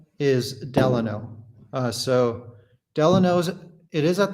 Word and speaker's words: Delano: Like Delano, or most people pronounce it Delano, but it's actually pronounced Delano.